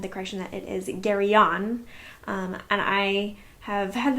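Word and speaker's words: Garion: want to say since i'm used to thinking about his name as garron versus gary on um but i'm gonna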